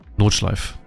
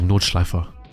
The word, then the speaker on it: Nordschleife: Nordschleife. Sorry, Nordschleifer. To say it properly, it's German.